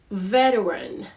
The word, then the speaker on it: veteran: the next word is veteran veteran so yes you have this T over there in the word veteran but it pretty much it don't say much the T sound can